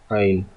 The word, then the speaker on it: ع: Ain. Okay. Ain. Ain. Okay. In English, it is pronounced as Ain. Ain. Aen. Ain.